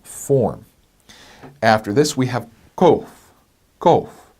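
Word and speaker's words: קוף: After this, we have kof, kof. Now notice this is not kof like a K, but kof like a Q. It's a bit farther back in the throat.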